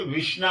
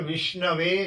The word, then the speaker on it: विष्णवे: हैं लेकिन व्याकरण से विषण नम नहीं होता है शुद्ध है और जो विद्वान है वह कहता है विष्णवे नम बोले भगवान भक्त के